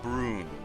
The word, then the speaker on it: Brune: along those lines so Brune would be pronounced Brune or something along the lines like broom but that that sounded there